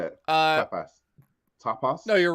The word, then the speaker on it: tapas: Tapas. No, you're right. Tapas. It's tapas. Tapas. Okay. I thought it was because I was saying it weirdly. No. I just heard tap ass, and I thought.